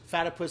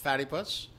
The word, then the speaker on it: Fatipus: And I want to first off thank our sponsors, Fatipus Skis. Fatipus, not Fattypuss. Rhymes with platypus.